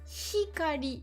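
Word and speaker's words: 光: c'est la colère, à ne pas confondre avec hikari, la lumière, hein, c'est pas du tout le même mot, c'est pas la même prononciation.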